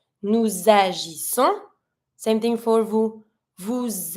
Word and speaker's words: nous agissons: starts with a vowel, I'm always going to try to link my pronoun with my verb. So I'm going to be pronouncing the S from nous to link it to the A with agissons.